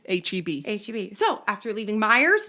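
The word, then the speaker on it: Meijer: Oh, Myers.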